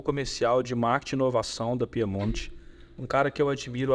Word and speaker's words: Piemonte: da Piemont da Piemont Piemont ou Piemonte como que é a pronúncia acho que pros amigos pimont tá Fantástico é nobre elegante bonito tal mas assim a gente usa Piemonte mesmo Piemonte diretamente eh simples direto